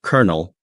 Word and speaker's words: colonel: Like colonel being pronounced colonel. That one always trips people up.